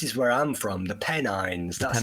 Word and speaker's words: Pennines: Yeah, well, this is where I'm from, the Pennines. That's how you pronounce it.